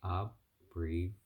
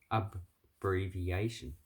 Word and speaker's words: abbreviation: it depends on where you're actually learning to abbreviation abbreviation so if i say past i say abbreviation